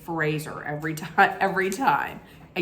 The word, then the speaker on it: Fraser: the past I had always said Brendan Frazier but it's really not it's Fraser like razor so that's why I consciously make sure that I say Fraser every time every time